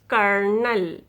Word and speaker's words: colonel: look at this word in this word you don't pronounce o o will be silent you pronounce this word is kernel kernel tough enough rough